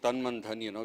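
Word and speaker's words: तन मन धन: And that is the right way to go with Tan Man Dhan, which you rightly pronounced.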